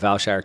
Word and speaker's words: Vailshire: jeff ross founder of valshar cap you can find him on twitter at valshar cap that's pronounced like vail and shire cap and you can